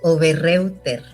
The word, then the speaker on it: Oberreuter: Mira, lo puedes leer exactamente como lo ves, Oberreuter. Si te pones un poquito más fino, le dices Oberreuter, porque en alemán EU es OI.